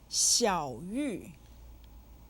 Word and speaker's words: 小: 小 is said with the 3rd tone.